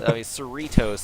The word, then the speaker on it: Cerritos: believe it's cerebral yes like Doritos yeah you're right yeah you're right because Cerritos there's more emphasis on the r less emphasis on the T because there's only one